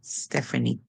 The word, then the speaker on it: Stephanie: mother's mother okay um E P and H together make a song like f so we say F step we have the small word an Stefan i e E A lot of times at the ending of longer words in English would say e so here we have step and E Stephanie and that's a name